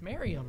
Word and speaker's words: Merriam: It's Merriam, right?